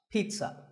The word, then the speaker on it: pizza: not a pizza and it's not a pizza there's no sound in this word it's Pete son pizza another food word that's